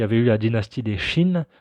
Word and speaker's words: Qin: Juste avant les Han, il y avait eu la dynastie des Qin. Donc ça se prononce Qin, mais ça s'écrit Qin.